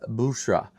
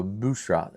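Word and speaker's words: Büşra: It's Bushra. It's the U with the two dots over it, so it makes that U sound. So Bushra, B-U-S-R-A.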